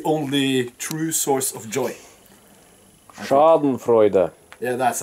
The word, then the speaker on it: Schadenfreude: The Germans call it Schadenfreude. It's when you get really, really happy because someone else is doing really, really bad. It's the only true source of joy. Schadenfreude.